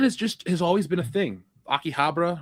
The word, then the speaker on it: Akihabara: Akihabara, right? That's how you pronounce it.